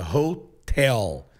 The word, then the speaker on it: hotel: palavra em português é a pronúncia muito muito brasileiro acha que é o hotel mais o hotel é road hell é na segunda sílaba holtel quem é igual ao